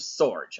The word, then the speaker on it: Sorge: I mean, your name rhymes with George, and Right. that's kind of, but it's Joseph Sorge.